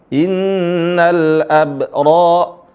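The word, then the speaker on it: إِنَّ الْأَبْرَارَ: majuha kafur silakan dibaca perhatikan di sini ada Qalqalah Inal AB Inal AB sebagian teman-teman membacanya tanal Qalqalah Innal abro Innal abro Inal AB ini yang benar ada qqalah Inal AB naantum kita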